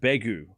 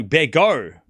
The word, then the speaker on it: Begu: Begu it's pronounced Begu. Okay. Yeah, Lena, you gotta spell it out for me. Because I can't hear. Oh, here we go. It's pronounced Begu. Bear as in bet. Oh, Bego.